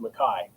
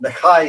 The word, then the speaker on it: McKay: But typically, our understanding in our branch of the clan and family is that in the Highlands, it's pronounced Mckay.